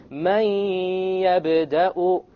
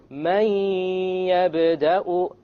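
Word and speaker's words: من يبدأ: So we pronounce this as Man Yabda'u, Man Yabda'u, Man. Notice there is no Man. It's immediately the Mim associates with the Ya, and you drop the Noon sound.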